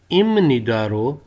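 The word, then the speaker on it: 입니다: ये लफ्ज लिखा है इप निदा इप निदान इम निदो फारूम थिम निदा कहता है कि जी इप निदा जो है इसको हम इमनीदा प्रोनाउंस करते हैं लफ्ज के पक्षम में बप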